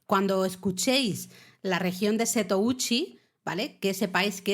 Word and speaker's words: Setouchi: Entonces se habla de la región de Setouchi, o sea, el mar interior de Seto es el mar, el agua, ¿no?